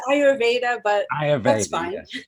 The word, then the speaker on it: Ayurveda: is wealth with ayurveda did i say that right aveda yeah it's it's ayurveda but i have very